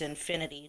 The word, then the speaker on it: Enfinity: For those who don't know my real name, my real name is Infinity, like the car, but spelled with an E.